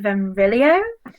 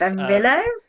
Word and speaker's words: Venrillo: I think their name is pronounced Venrillo. Yes. Venrillo.